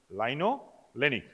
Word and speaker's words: linolenic: To remember the spelling, this way we pronounce it: linoleic, linolenic.